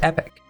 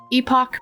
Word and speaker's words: epoch: I've heard that word pronounced epoch, but I've also heard that it can be pronounced epic. No, we are pronouncing it epoch because that is how Sagan does it, okay?